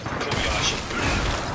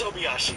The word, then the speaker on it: Obayashi: Pronounce that. Kobayashi. Yes, that's right. It's Obayashi.